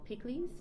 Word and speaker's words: pikliz: and the product i'm now selling is called picklies p-i-k-l-i-z it's a staple haitian condiment we use